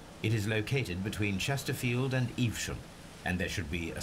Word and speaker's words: Evesham: Evesham?